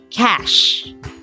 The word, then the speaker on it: cache: this using the ipa it's called cash okay but the spelling is c-a-c-h-e clear cash so you're